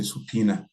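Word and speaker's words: subpoena: attended your judges but in the legal pronunciation we say subpena you have been subp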